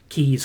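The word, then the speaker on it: Caius: gone villain keys college confusingly spelt c-a-i-u-s pronounced keys college he was the doctor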